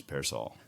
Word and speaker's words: Pearsall: So I'd say all the pears, Pearsall. Pearsall.